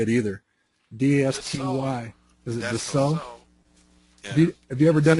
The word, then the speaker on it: Dassault: Is it Dassault?